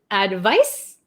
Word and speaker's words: advice: or recommend it's a verb one more time pronunciation advice advise okay okay so we'll do really quick